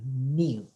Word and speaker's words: mu: And also we said the population mean, we use a Greek letter, we use like a, look like a U, but we pronounce like a mu, okay?